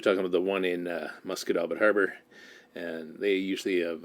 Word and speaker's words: Musquodoboit: Scotian because I can actually say it right, Musquodoboit. And here's Nettie's post. Is anybody aware of youth programs over March break other than the rec center? And she's probably talking about the one in Musquodoboit Harbor, and they usually have a ton of kids.